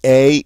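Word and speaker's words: é: And this, every time you see E with an accent aigu, it's going to make this one sound. It's going to be like the A in rake, a long A sound in English, A.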